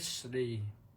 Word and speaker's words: ทฤษฎี: ก็ คือ ทฤษฎี หรือ ออก เสียง ให้ ถูก ต้อง ก็ ทิส ทฤษฎี นะ ทร ทฤษฎี ก็ แปล ว่า ความ